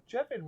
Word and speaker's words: Jevan: Yeah, so when we went to Exeter for Jevan rhymes with heaven, kind of as well.